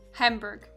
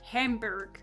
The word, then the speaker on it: Hamburg: after the city uh a lot of Americans pronounced really weird at least for a German speaker they say like Hamburg Hamburg um but it's just hambur kind of have